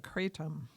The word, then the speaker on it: Kratom: Anyway, we're going to talk about Kratom, which is how it's pronounced, actually, according to Wikipedia. It's pronounced exactly like it's spelled, but the accent's on the second syllable.